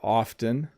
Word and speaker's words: often: pronounced in the word often when I learned it my teacher didn't pronounce the T could you explain it thanks I don't pronounce the T when I talk quickly you'll notice that I